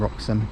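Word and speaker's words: Wroxham: line so actually also been told this is pronounced hofton and roxom not hton so I've uh stand corrected but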